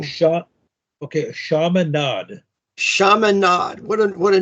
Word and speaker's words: Chaminade: So he went to Chaminade High School, which is in Pennsylvania. I'm sorry, it's actually Chaminade High School, which is actually in St.